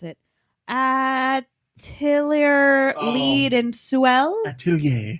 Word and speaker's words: atelier: Atelier Oh. Lead and Suel, Atelier. I guess. So it's French Japanese. It's one of the Japanese. atelier games. Or if you're uncultured, 8-liter.